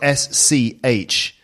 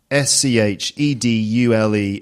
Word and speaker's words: schedule: So this, folks, this word is spelled SCHEDULE. SCHEDULE, and it's like a timetable, Yeah.